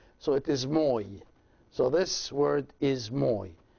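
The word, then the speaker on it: ⲙⲟⲓ: it a little bit and this word is pronounced moi as you can see it is me and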